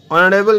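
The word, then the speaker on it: honourable: তারপরে হি ইজ এ অনারেবল ম্যান এ অনারেবল ম্যান হবে না অ্যান অনারেবল ম্যান হবে কারণ এখানে এসটা সাইলেন্ট করা রয়েছে এইচের উচ্চারণটা সাইলেন্ট রয়েছে অনারেবল হয়েছে বলে ঠিক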